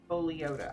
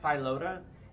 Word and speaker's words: Foliota: Eye of Sabercat, Nightshade, Scaly Foliota. I always call that Philota until recently. I actually looked at how it was spelled and I was like, I've been saying it wrong for a very long time.